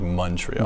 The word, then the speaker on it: Montreal: If you're from Montreal, you pronounce it like M-U, so like Montreal.